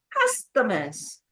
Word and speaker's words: customers: Customers. Customers. 3. 3 syllables. All right. Customers. Stress on the first syllable.